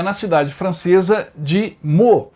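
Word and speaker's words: Meaux: na Cidade francesa de mu essa pronúncia correta o nome tá escrito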